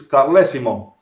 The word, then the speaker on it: Carlesimo: know us American yeah well it's from Italian region so it's Colosimo god bless you okay